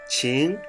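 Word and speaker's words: 情: And also if you add the heart radical, qing, it means emotions. If you add the rice radical, it means spirit, but the pronunciation changed a little bit, jing.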